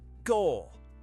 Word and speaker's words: gol: Number 17, goal! In Spanish, say it like a commentator. Goal! Stretch the O as long as you want.